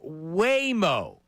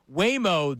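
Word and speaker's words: Waymo: Are you in, are you out on something called Whimo?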